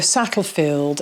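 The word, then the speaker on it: Satterfield: make mention of that her name is Gloria sattlefield and I want to offer my sincere apologies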